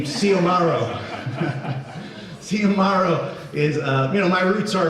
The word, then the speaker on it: Xiomaro: So I thought that was a really good name, Xiomaro. Problem is nobody can pronounce it because of the X, right? The X is pronounced like an S in Spanish.